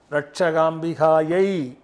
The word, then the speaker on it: ரட்சகாம்பிகாயை: ஐஸ்வர்ய அனுகிரக ரட்சகாம்பிகாயை ரட்சகாம்பிகாயை நமோ நமஹ. ஓம் மகோதரி சாந்தி சித்திரஸ்து ஐஸ்வர்ய அனுகிரக ரட்சகாம்பிகை நமோ நமஹ. இந்த பார்த்துக்கங்க, ரட்சகாம்பிகாயை நமோ நமஹ அப்படி என்று உச்சரிக்க வேண்டும்.